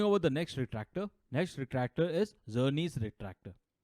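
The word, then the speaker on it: Czerny: Talking about the next retractor is Zernies retractor. Remember, the C is silent. So Zernies, it almost starts with a Z.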